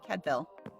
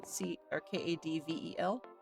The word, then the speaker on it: Cadfael: And I'm spelling it or saying it wrong. It should be Cadvel, as in Kadvel. And I'm still not saying it correctly. I should probably actually ask a Welsh speaker.